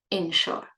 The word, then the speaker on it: insure: first one is spelled with an I, they're pronounced the same way. E, E, short E. insure, insure.